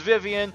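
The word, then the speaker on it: Vivian: Mario th door yes I know her name is Vivien I just pronounce as vien because stupid 12-year-old midnight Beyond thought it said Vian now I'm stuck saying like that for the rest of Eternity but whatever I don't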